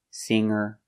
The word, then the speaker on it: singer: a verb with ing no G sound singing and hanging but if you change an adjective with e you make the G sound longer stronger younger or if you change an